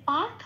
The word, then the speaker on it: পার্থ: থয় রেপ আছে, পয় শূন্য রায় হসন্ত দিয়ে রেপটা প্রতিস্থাপিত হয়ে যাবে আর পয় আকারের সাথে জুড়ে উচ্চারিত হবে পার্থ, ওটা পূর্ণরূপে উচ্চারিত হবে পার্থ।